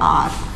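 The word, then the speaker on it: hour: हम क्या बोलते हैं, आर। इसमें हमारा क्या है, एच साइलेंट है बेटा, ठीक है, हम इसको आर बोलेंगे तो ये हमारा एच वर्ड क्या है, साइलेंट रहेगा, इसलिए हमने क्या है इसमें अ ना लगाकर एन लगाया।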